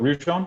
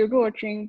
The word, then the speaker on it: Ruchon: But Ruchon, would you, and forgive me if I didn't get the pronunciation quite right. Hi, it's actually Ruchon, but I know it's really hard to pronounce.